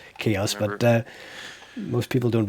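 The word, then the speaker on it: Xaoc: uh shoot you know it's i know it's pronounced chaos but uh most people don't recognize us when i say chaos i say zayok in my head every time even though i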